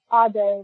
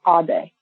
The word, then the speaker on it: Ade: Ade, like Sade the singer, but Ade.